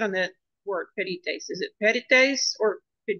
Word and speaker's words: pedites: it's on the E. Pedites. The Pedites. I is not long, so the accent goes on to the um, third syllable Okay. from the end.